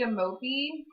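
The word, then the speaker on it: Amopé: It's called the Amopi. And like emoji, but yeah, I think it's AMOPE. So not at all spelled like emoji, but pronounced similar.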